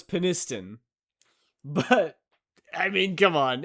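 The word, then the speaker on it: Penistone: And it is pronounced how you first said it. So So it's peniston. But I mean, come on. It's peniston.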